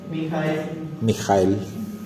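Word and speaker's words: מיכאל: Mijael.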